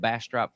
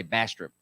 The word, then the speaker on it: Bastrop: Central Texas especially old Bastrop County the locals say Bastrop not Bastrop Bastrop we were in Buda